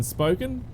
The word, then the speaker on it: Spokane: of that town is Spokane spoke in like as in spoken like yeah spoken word yeah I've looked at the pronunciation of it and it basically says SPO - C a.m.